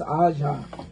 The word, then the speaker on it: Aja: Even though it's A apostrophe J A, it might be Aja. Aja? It's Aja.